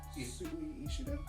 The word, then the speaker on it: Sui Ishida: And this is actually by the same creator who wrote Tokyo Ghoul, which is Sui Ishida? Sui Ishida. Okay. Or Ishida Sui. I've heard pronunciations, so someone's gonna groan eventually, like, what are you saying?